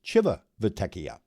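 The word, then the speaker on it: Civitavecchia: though it's it's spelled Civ uh they they pronounce it Chiva vekia anyway that was that when we got to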